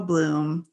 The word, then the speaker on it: Bluhm: is already difficult enough people say and then they say blum and i'm like wow